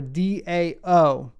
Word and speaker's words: DAO: term is dao or d-a-o it's pronounced the dao and it is shorthand